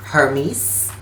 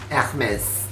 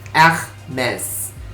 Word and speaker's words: Hermès: dari pelafalan dari Yunani, Hermes. Tapi kalau kita berbicara dalam konteks brand, dan ini brand yang berasal dari Prancis, maka aku akan menyebutkannya menjadi Hermes. Hermes.